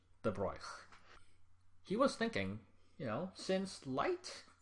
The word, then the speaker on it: De Broglie: By the way, his name is, I believe, according to a French person, pronounced De Broglie. Not De Broglie, not De Broglie, De Broglie.